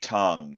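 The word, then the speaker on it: Tang: Um there's this gal named Audrey Tong. It's spelled T A N G.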